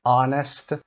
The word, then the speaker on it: honest: Common exceptions air, honest, honor, hour, exhausted و rhythm. اینها استثنایی هستن که Hشون تلفظ نمیشه، اگر میشه به این شکل صدای رو میگیره، اما معمولا صدای H صدای H داره.